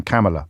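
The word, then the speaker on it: Kamala: that the vice president pronounces her name camela like Pamela or Camelot this is important to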